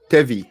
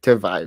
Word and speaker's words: Tevi: else we have yeah his name is uh tevy t-e-v-i tevy I was gonna say tavai but good he pronouncing himself so tevi yeah it would be